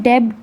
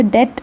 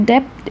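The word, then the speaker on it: debt: अब उसमें डेब्ट नहीं बोलते हैं, बी यहाँ पे साइलेंट होता है, इसको डेट बोल सकते हैं या फिर डेप्ट भी बोल सकते हैं।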